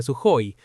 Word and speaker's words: Sukhoi: El avión de combate Su35 desarrollado por Suoi Design Bureau en realidad se pronuncia sui, pero como lo aprendí así sigo llamándolo así.